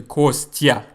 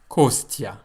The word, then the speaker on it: Костя: And most Americans say Kostya. Kostya. But it's not pronounced Kostya. Why? Because in Russian, we have that tya sound. So, let me put it another way. The consonant plus the letter ya results in the sound tya, or bya, or ся, or vya, etc.